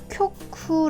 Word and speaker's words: 局: 정도에 해당하는 한자라고 해요 훈독 없고 음독으로 쿄쿠 아는 발음 갖고 있고요 초급에서 아마 어디서